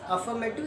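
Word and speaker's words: affirmative: Offer नहीं बोलते बच्चों, थोड़ा हल्का सा दबा के बोलना है इसको, अफर्मेटिव ऐसे बोलते हैं। आर की ध्वनि बहुत ही कम निकलती है, जहाँ तक हो सके साइलेंट रहती है, अफर्मेटिव इस प्रकार से बोलते हैं।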